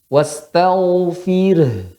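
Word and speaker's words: واستغفر: Ya, rohnya tipis apa tebal di sini? Tipis. Ya, tipiskan dulu, baru keluarkan hanya. Wastaghfir. Fir. Jadi seolah fir bacanya. Fir. Tapi harus dimasukkan, dijelaskan pada rohnya.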